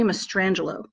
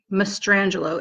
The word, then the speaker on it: Mastrangelo: case of Jerry Jerry Mastrangelo ma st it's spelt the way it sounds Mastrangelo SMAS T must RA